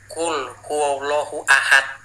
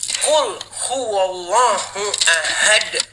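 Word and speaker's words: قُلْ هُوَ اللَّهُ أَحَدٌ: Saya bacanya gini waktu itu, qul huallahu ahad. Salah kata dia. Bukan ya memang salah. Harus bacanya gini bacanya harus gini. Qul huwallahu ahad. Harus ahad. Bukan.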